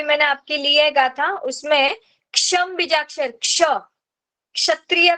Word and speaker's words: क्षम: के is silent और क्ष, ऊपर क्षत्रिय का जो हम लोग क्ष लिखते हैं ना, वो वाला, और ऊपर टिम्ब।